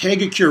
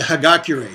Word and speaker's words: Hagakure: When I went to his house, he goes, the Hagakure. So I may have mispronounced that one.